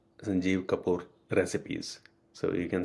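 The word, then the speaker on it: Sanjeev: Yeah, it's uh Sanjie Kapoor. S A N J E V Sanjie and then Kapour is K A P O O R Sanjie Kapoor recipes.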